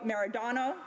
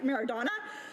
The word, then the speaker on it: Maradona: in the world, including Diego Maradona, but I'm sure I've said that wrong, but I say it correctly, Maradona, Lionel Messi, or Hugo Sanchez.